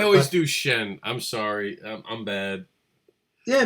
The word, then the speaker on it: Sehn: Well, that's to help people pronounce my name, because it's like, the H throws everyone off. And just like you pronounce sensational. Oh, okay. Sensational. Gotcha. So Shen, but people go, Shen or Sheen or or whatever. I always do Shen.